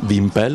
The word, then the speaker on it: Wimpel: Si chiama Wimpel, è un nome, questo vabbè, la domanda classica è come si pronuncia Wimpel, normale.